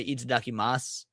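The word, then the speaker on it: itadakimasu: The the sue is silent. You just say eat mas.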